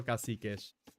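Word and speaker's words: cacique: Kasikesh is how Brazilians pronounce it. Okay. Okay. I'll go for Kasikesh.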